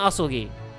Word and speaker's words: Asogi: It's pronounced Kazuma Asogi.